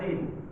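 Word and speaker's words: دِين: saja membacanya yang berbeda hutang di dalam bahasa Arab itu dibaca Dain sedangan agama dibaca Din sama-sama memiliki tiga unsur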